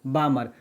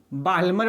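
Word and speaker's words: Balmer: क्या होता है, बामर। कई लोग इसको जो है बाल्मर पढ़ते हैं, पर बाल्मर मत पढ़िएगा, बामर सीरीज पढ़िएगा।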